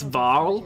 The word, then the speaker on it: Varl: It's Varl, not Carl.